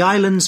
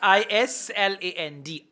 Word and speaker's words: Island: you spell i-c-e-l-a-n-d yes i-s-l-a-n-d Island s is silent okay so the answer